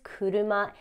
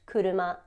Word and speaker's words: 車: same piece of information, that this kanji means car and it's pronounced kuruma.